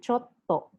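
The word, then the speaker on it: ちょっと: two japanese consonants together pause for a small moment before completing the sound for example zashi zashi which means magazine since it is composed of double s sound zas she and chotto which means a little which consists of c double t sounds you need to have a brief pause before pronouncing the other consonant chotto just like the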